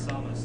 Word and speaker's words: Samus: To say to people in the chat who are talking about how he says Samus, that is actually the correct pronunciation of the name as well.